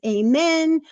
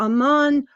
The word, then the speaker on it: Amun: by saying amen Amun since there are no written short vowels in the ancient Egyptian language his name may be written and pronounced as amen or Amman or a moon all three are one in the same amen's means hidden for